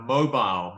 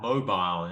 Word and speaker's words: mobile: the object is purple notice the pronunciation of mobile mobile yeah mobile mobile um an um with